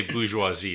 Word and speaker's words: bourgeoisie: The bourgeoisie, how do you say it? The bourgeoisie. Yeah, The my bourgeoisies. so my kids seriously they had read this and they thought it was the bourgeois.